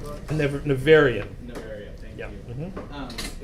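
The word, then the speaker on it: Nevèrÿon: But one of the things that really stuck out to me in the Neveronia book. Nevarian.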